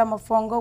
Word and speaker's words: mofongo: Mofongo.